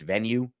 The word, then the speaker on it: Venu: also on nothing personal venue without the e venu pronounced venue that combination without CBS